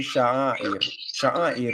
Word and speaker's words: sha'air: Sha'air. You didn't pronounce it. When we say sha'air is rituals. Okay. It's sha'air. Sha'air.